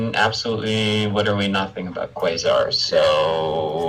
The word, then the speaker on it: Quasar: His name's Quasar, starts with a Q, rhymes with... Kazar. Yeah, there you go. I was trying to think of something that rhymed with Quasar. Lazar. Laser! His name is Quasar, rhymes with Quasar laser.